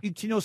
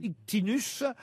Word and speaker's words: Ictinos: Ictinos s'écrit I-C-T-I-N-O-S. Ouais. Parfois, on peut aussi le lire Ictinus.